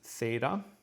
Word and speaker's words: theta: Theta is going to have the th sound to it, and it's like our English TH, where we have to do it with two letters. They can get it done with just one.